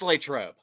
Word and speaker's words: Latrobe: valid point but but ryan uh on the pronunciation of latrobe oh boy it's latrobe did you pick that up from peep from